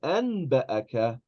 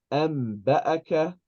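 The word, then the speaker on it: أنبأك: So we, even though it is the word anba'aka, we pronounce it amba'aka.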